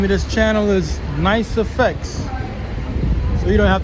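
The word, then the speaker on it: NYCE: It's just Nice Effects as in the word nice. N-I-C-E. This is just with a Y.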